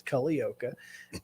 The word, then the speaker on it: Culleoka: And for those of you who don't know how to say it, that's how you say it. It's Cullleoka. And just like it's spelled.